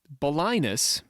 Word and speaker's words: Balinus: arabic begins with balinese bolinus is which rhymes with sinus is is a guy